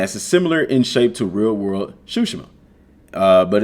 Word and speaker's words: Tsushima: And it's pronounced Tsushima, not Tsushima.